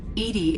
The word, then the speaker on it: EDI: airlock is a jar why are you named edie edie is the phonetic pronunciation of e that is an acronym for